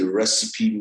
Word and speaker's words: RECEEPE: In our practice, we call this the recipe model, but it's not spelled recipe as the food. It's spelled RECEEPE, which is an acronym